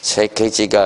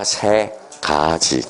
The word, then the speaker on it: 3가지: 3개지를 써라고 그랬더니 발음이 안 돼. 3개지가 아니라 3가지. 그렇죠?